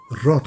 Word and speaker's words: रौत: से वो नामकरण हो गया और सही शब्द राउत हैं लेकिन अंग्रेजों के शासनकाल में अंग्रेजी में